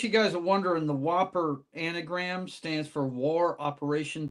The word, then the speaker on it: WOPR: In case you guys are wondering, the Whopper anagram stands for War Operation Plan Response. It's WOPR. It's not spelled with an H or the almost like extra Whooper. PE. Yeah, Whooper.